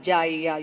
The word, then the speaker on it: Gaia: G-A-I-A, Gaia or Jaya, you can whatever way you want to pronounce it.